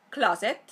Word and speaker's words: closet: británico en inglés americano es closet closet cla a a o recordad que este sonido a es una mezcla de o y a a a y después la segunda y última sílaba es Z Z fijaos que es s Sonora y no sorda es decir es Z y no s Z Z closet closet